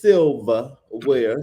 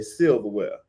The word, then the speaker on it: Silva Ware: And my drag name is Silva Ware, spelled like Sylvia without the I, because she's polished, honey, and she'll cut you. If I ever make it on Drag Race, I'm going to walk in and say Silverware, because she's polished, honey.